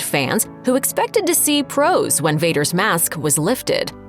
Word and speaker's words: Prowse: Shaw appeared as the unmasked version of the character after taking over the role from David Prowse . Prowse had portrayed the character on-screen until that point, with James Earl Jones giving the villain a voice.